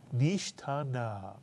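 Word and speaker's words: נשתנה: The first syllable is nish. The second syllable, ta. And the third syllable, Na mitsuyan. Pronounce the whole word. Nishtana mitsuyan.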